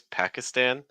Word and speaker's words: Pakistan: There's a couple different ways you're going to hear people in the U.S. pronounce this. The first way is Pakistan. Pakistan. So a sound, pack, like pack a bag.